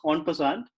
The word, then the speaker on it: en passant: in passage it's pronounced on passant it's a French term the rule basically means